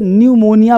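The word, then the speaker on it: pneumonia: P silent रहता है एन तथा एस अब एन और एस इससे पहले पी क्या रहता है? साइलेंट। अब देखो पी निमोनिया नहीं पढ़ेंगे। इसे निमोनिया पढ़ेंगे। बीमारी का नाम है। है ना? न्यूममेटिक्स पढ़ेंगे। न्यूमेटिक्स पी नहीं पढ़ेंगे।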